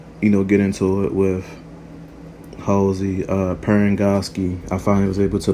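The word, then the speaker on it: Parangosky: We even see Commander Keyes basically get into it with Halsey, Perengoski. I finally was able to pronounce her name right.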